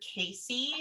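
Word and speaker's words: Cayce: the sleeping prophet or edward casey his last name is spelled c-a-y-c-e um but yeah he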